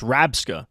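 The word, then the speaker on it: Rabsca: It's not Reller. It's Rabska.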